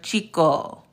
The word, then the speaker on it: chico: But I'm here to let y'all know that in Spanish, the CH is always going to say the same. So if you have the word chico, which is the word